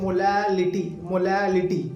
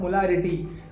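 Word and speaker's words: molality: मोलालिटी यहाँ पे L है, ठीक है। मोलालिटी नॉट मोलारिटी, मोलालिटी है यहाँ पे।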